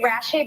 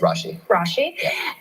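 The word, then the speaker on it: Rasche: are played by David I always say his name wrong I say Rashi but it's Rashi um he's on succession amazing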